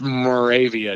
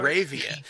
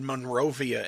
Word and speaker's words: Moravia: Yeah, it's actually pronounced Moravia, New York. Moravia. Thank you. Yeah. I think I actually said Monrovia at one time.